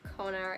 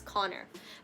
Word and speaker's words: Conor: the cat of Conor the way I pronounce Conor is not good it's Connor but anyways s is the